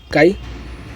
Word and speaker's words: chi: इट is pronounced काई and is frequently written as chi-square test.